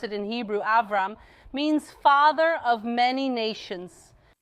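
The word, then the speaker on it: אברהם: And by the way, the name Abraham, or as we pronounce it in Hebrew, Avram, means father of many nations.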